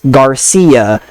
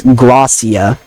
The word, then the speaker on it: Gracia: wrong cuz it's like they'll say they'll say your name's Garcia. Your name's whatever I want to call you. But no, it's Glossia. It's not that hard, guys.